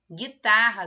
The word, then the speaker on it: guitarra: Guitarra, será que tem? Digno. Obter em recepção. Encontrou já a resposta? Isso aí, guitarra. Gui, eu não pronunciei, não falei gui, é gui, ra.